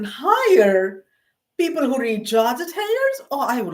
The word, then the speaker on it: Heyer: I asked for a Georgette Heyer. And that's how the British say. And the lady, this is Canadian. Georgette Hires?